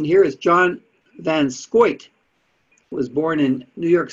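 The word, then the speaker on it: van Schaick: fund that is what they're talking about john von shake i guess it's pronounced oh no i've got the pronunciation here is john van scoyt was born in new york state to a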